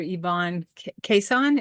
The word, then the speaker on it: Yvonne Kason: to be speaking with my guest today Dr Ivon quesan am I pronouncing that correctly yep that's just fine thank